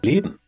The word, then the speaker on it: Leben: Leben. Not only he tries to omit the letter A, but also N makes it M. Here we extend this letter A, but here we try to omit it.